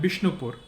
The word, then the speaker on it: Bishnupur: Bengali language is such where the V sound becomes B.